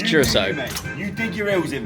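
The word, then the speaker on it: Curaçao: So I'm saying Curacao. I'm saying Curacao. Like, that's how I would read it. I asked my girlfriend. She's very intelligent, and she also said Curacao. It's Curacao, but, you know.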